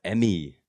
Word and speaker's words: MME: Hong Kong based um oh it's pronounced Emmy there you go there we